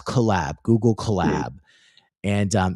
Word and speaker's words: Colab: It's Colab, Google Colab. And it's spelled collab as opposed to collab, like collaboration.